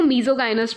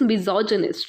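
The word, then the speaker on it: misogynist: कुछ बच्चे इसको मीजोगाइनिस्ट भी पढ़ते हैं, but that is नॉट the correct pronunciation of this word, this is मिजोजिनिस्ट, right.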